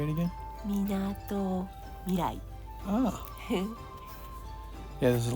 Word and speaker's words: Minato Mirai: Minato Mirai.